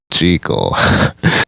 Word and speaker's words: Jekyll: The answer was obviously Jekyll, after Chris answered, or Jekyll as it turns out.